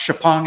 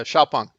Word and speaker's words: XPeng: Volkswagen is investing in, I think it's pronounced Xpeng. It looks like XPeng. Yeah, XPeng. Yeah, Xiaopeng.